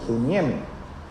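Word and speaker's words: συνίημι: Acento en la I, suniemi, que significa comprender, que significa actuar, ¿sí?, devotamente.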